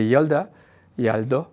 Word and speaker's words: Yalda: Il ne célèbre pas Noël, donc il célèbre le Yaldo, comme ça prononce.